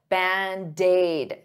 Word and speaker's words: Band-Aid: 2 words, but to pronounce them like one, I'll take that D and transfer it to the vowel. Band-aid, daid, band-aid, band-aid, band-aid fix.